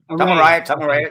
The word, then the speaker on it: Tom Araya: How do you pronounce the singer's last name? I always had trouble with that. Tom Araya.